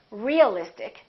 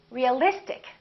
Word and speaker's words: realistic: see in this case we don't stress the suffix but we stress the syllable immediately before the suffix realistic we don't say realistic we don't say realistic we say realistic electric electricity electric strategic